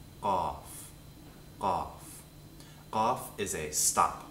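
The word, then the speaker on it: قاف: It's called Qaaf, Qaaf, Qaaf. Qaaf is a stop. So, once again, bring the root of your tongue to the back of your throat and stop all air from moving out.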